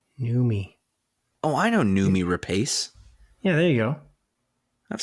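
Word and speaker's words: Noomi Rapace: segment of her show how how do you pronounce this name nume oh i know nume rapace yeah there you go i've seen her indeed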